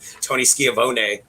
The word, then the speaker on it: Schiavone: He'll never call Tony Schiavone. He calls him Tony Schiavone. Oh, it's the Canadian way of pronouncing it.